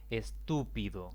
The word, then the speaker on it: estúpido: Estúpido es una palabra de 4 sílabas. La mayor intensidad de la voz recae en la antepenúltima sílaba.